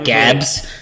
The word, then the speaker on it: Gaborone: You mean the one that was carried out in the Gaborone, and yes, the actual pronunciation is Gaborone. Yes. But we don't mind if you say Gaborone or Gabs, because we're not fucking super sensitive.